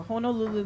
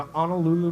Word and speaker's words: Honolulu: The Honolulu Marathon. The Honolulu Marathon. Am I saying it wrong? You're saying it wrong. Well, so Honu is like turtle, okay. And then Nu, Hono. and then Lulu. Lulu.